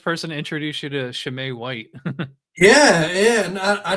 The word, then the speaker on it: Chimay: to introduce you to Shem white yeah yeah and I didn't know it was I pronouncing it Chim I didn't know the CH was the Sha sound we we can get